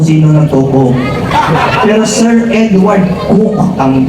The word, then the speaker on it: Coke: niyo tanong kung sino nagc pero sir Edward cook ang pagpronounce nian ang sinabi niya a man's H